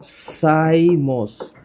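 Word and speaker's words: cymose: এখানে উচ্চারণটা একটু মনে রাখো। একটার নাম হচ্ছে রেসিমোস। একটার নাম রেসিমোস। আরেকটার নাম সাইমোস।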